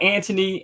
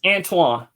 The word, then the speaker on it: Antoine: Like, even when I met you, with all due respect, you know, everybody mispronounces my name. I've been called Anthony, Antoine, sometime, but Antonio, Antone, right, Anthony, Anthony. Right. Pronounce it. It's Antoine. Antoine.